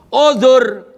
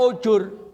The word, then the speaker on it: uzur: Uzur dibaca ujur. Kus jangan dia sudah ujur. Kalau uzur artinya negur.